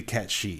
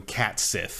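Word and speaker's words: Cait Sith: yeah we'll see cuz technically it's supposed to be cat she right in gay but everyone I've ever met calls him cat Sith yep so it's like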